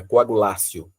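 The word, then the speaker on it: coagulatio: é uma palavra latina, coagulácio. Eh, e a gente pronuncia no lugar do T como se o T fosse um c, né?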